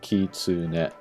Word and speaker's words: kitsune: Like ki, like that's a unit. TSU is one unit, and then NE is another unit, so you say them kind of separately. Kitsune.